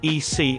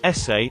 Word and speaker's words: ese: think you pronounce it e c i think they just made it up like their own nickname i am mexican it's pronounced like essay and it's equal to bro or man the actual text read